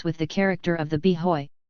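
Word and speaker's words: b'hoy: the character of the be Hoy the Irish and Urban Street pronunciation of boy and one that denoted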